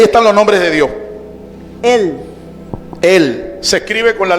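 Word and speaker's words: אל: Él se pronuncia así, él.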